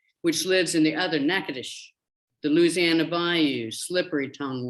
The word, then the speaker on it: Natchitoches: slap and dash verbal clip of a Cajun syllable slipping mouth, which lives in the other Natchitoches, the Louisiana Bayou, slippery tongue one.